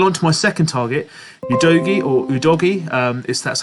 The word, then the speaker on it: Udogie: Going on to my second target, UDOGIE or UDOGIE, that's how you pronounce it from the Sky Sports pundits.